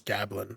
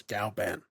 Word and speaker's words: Galan: another touchdown to Galan I've been saying his name wrong this whole time as gabblin but it's Galan then we get another